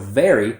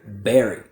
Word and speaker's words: very: So this mistake happens often, especially with my Spanish speakers who don't always separate the difference between B like boy and V like victory. So a lot of times instead of very, I hear berry, which is a fruit.